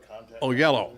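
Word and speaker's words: Oyelowo: david uh only only i can never pronounce his name but oh yellow oh yo yellow because it's like o o y o-y-e-l-o-w-o oh yellow so anyway he was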